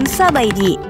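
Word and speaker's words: ສະບາຍດີ: Thailand berarti Halo dan dalam bahasa Laos diucapkan sabaidi kata k yang berarti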